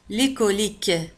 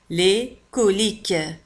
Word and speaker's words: coliques: انتبهوا كذلك على أن ك في آخر الكلمة تكتب Q U E S وتنطق ك. les coliques les coliques les coliques.